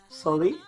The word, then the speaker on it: Soleil: Today I have Soleil. Soleil. Soleil. I said I was going to pronounce it right and I already messed it up.